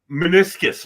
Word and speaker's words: meniscus: Meniscus, Mike. Meniscus. All right, I'm just checking, double checking. You keep saying different. Meniscus. Yeah. Rhymes with kiss.